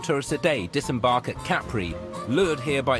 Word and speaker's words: Capri: As many as 20,000 tourists a day disembark at Capri, lured here by its movie glamour, dramatic topography and reputation for risque revelry.